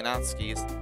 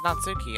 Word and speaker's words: Natsuki: The girl with the sour attitude whose name is apparently Natsuki is one I don't recognize. I know I say Natsuki, but it's actually pronounced Natsuki. I just prefer to say Natsuki.